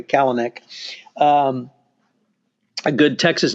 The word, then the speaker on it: Kalanick: He started with the senior leadership, which of course is, I have to say Kalanick because I grew up with a guy who pronounced it like that. So I'll just say Kalanick.